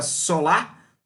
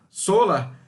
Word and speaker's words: Solr: do ecossistema de Hadoop, que se escreve SOLR, mas se pronuncia Solar, Solar, que faz justamente essa parte de mecanismo de busca, indexação dentro da estrutura do Hadoop.